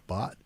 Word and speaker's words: Bhat: Bot, just like a B-O-T, bot. Mm-hmm. Just like a silent H.